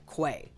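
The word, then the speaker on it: /qa/: And I know it's spelled QA, but apparently the accepted pronunciation is Quay. So, we can consider Quay to be the natural habitat of Soy Jacks.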